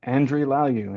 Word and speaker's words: Andry Lagiou: Andrew Lu.